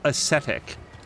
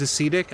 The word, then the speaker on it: ascetic: the correct pronunciation is ascetic. I do not know why I thought it was ascetic. I heard it at some point in my life. I've been saying it wrong.